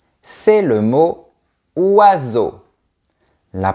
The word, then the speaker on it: oiseaux: Le S entre deux voyelles se prononce comme un Z. EAU égale O. Et on ne prononce pas la lettre X à la fin.